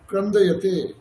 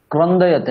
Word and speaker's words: ক্রন্দ্যতে: শিশু না, ক্রন্দয়তে, ক্রন্দয়তে নয় ক্রন্দ্যতে, উচ্চারণটা ক্রন্দ্যতে, ক্রন্দ্যতে।